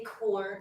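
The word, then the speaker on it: Kohr: how do you say is it Dr Co core is it Michael Kors I say core not KES okay is it yeah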